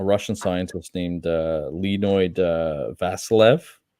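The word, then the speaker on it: Vasiliev: scientist named uh Leno vasilev v a s i l IE V lean Vil uhuh you just have to pronounce it with a Russian accent for me to understand it there you go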